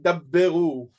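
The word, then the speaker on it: דַּבְּרוּ: Something like daberu with a b, kind of an emphasis, kind of a almost a duplication of that consonant.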